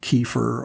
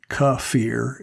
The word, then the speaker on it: kefir: or kefir which are is often pronounced kefir or kefir but i'm informed that ka fear is the proper pronunciation all of those that